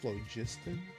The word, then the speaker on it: phlogiston: Phlogiston? How do you pronounce that?